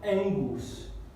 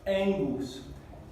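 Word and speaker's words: ἐγγύς: Tenemos Angus, Angus. Esta palabra significa cerca de. Y aquí tenemos E, N, G, U, S, porque aquí tenemos la sigma final y dos gamas juntas que se pronuncian así, como NG, NG, Angus.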